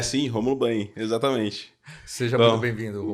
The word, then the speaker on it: Rômulo Banhe: É assim que pronuncia? É sim, Rômulo Banhe, exatamente.